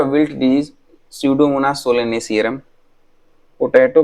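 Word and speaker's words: Pseudomonas: स्यूडोमोनास सोलेनेसियरम, स्यूडोमोनास, ये bacteria का नाम है स्यूडो, PSEUDO, यहाँ पे P साइलेंट है।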